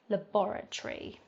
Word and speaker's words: laboratory: five we've got laboratory laboratory now towards the end of the word we have schwa sounds at the end rather than an A or an O so that's what maybe